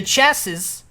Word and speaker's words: chassis: The chassis.